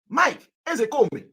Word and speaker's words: Ezekome: The real name of Mike is Mike Ezekome. That is the pronunciation. Mike Ezekome.